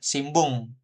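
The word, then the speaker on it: 新聞: Tapi secara tertulis N, apa hiragana N aja belakangnya ini N. Tapi untuk membacanya Simbung gitu ya.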